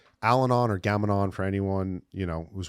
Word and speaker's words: Gam-Anon: Gamanon.